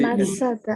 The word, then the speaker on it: Matsada: Ça, c'est Masada. Masada. Masada. Mais il faut bien prononcer le T. Matsada.